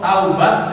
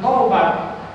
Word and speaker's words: taubat: Contoh taubat dengan tobat. Taubat tak waw ba tak taubat wajah yang balik, asalnya salah jadi benar. Asalnya maksiat jadi taat. Taubat. Orang kita bacanya apa? Tobat. Tobat artinya kelereng.